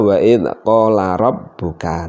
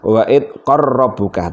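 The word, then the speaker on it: وَإِذْ قَالَ رَبُّكَ: Ya, umumnya dibaca wa'id qala rabbuka. Jarang yang membaca wa'id qarrabbuka, tapi dibaca seperti ini wa'id qarrabbuka, hukumnya juga boleh. Itulah contoh daripada idgham mutajanisan kabir dan cara membacanya.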